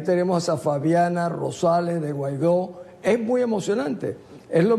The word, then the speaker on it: Guaidó: del Mundo decir Juan guaidó el presidente legítimo de Venezuela algunos no sean pronunciar bien decían gudo guadi Pero al final era